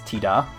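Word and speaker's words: Tidus: i because you know in japanese it's not actually titus it's tida hey sardi how's it going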